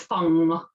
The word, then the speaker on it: feng: about feng shui um rather than feng shui they say it's fun oh right I did wonder when I said this morning I thought I was saying it wrong yeah so in China it's Fung feng shui yeah so um a